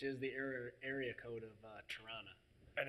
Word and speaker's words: Toronto: There's no T. There's no second T T. is Toronto. silent. T is silent. So it's Toronto.